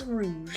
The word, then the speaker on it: Rouge: actually pronounce her name a lot of people thought it was rogue the bet but it's rude like the color she is a gem